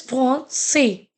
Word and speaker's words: français: So if you'll not put it, we will pronounce it as a garcon. Garcon. Okay. So it is garçon. Okay. Next is français.